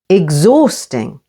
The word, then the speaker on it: exhausting: head high his her H can be silent after X as in exhausting with the stress on the second syllable exhausting exhibition or watch out